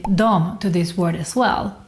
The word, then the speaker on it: de: Also, the word de is normally pronounced as dom.